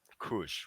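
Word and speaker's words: כוש: And the pronunciation is Kush, right? Kush, right?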